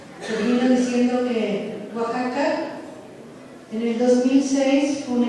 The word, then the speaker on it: Oaxaca: Todo el mundo sabía, todo el mundo decía un lugar rarísimo, se dice Oaxaca, ¿no? Y nadie lo sabía pronunciar, nadie sabía dónde estaba.